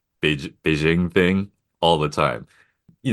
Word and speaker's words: Beijing: the US people always say Beijing it's Beijing this carries over whenever they see the J for some reason they Fran ofile it this also carries